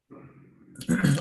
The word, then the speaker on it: tough: Tough. Ok, vamos por partes. Recuerda y toma nota, cuando tienes una GH, esta combinación suena como F.